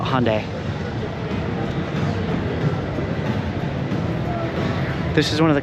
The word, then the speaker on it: Hyundai: know how it's pronounced I guess you're British it's Hyandai but here in America America we call it Hyundai this is one of